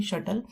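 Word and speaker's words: subtle: उसके बाद है शटल। इसकी प्रोनाउंसिएशन शटल है, इसमें बी की साउंड नहीं आ रही, शटल। तो इसको हमने शटल कॉक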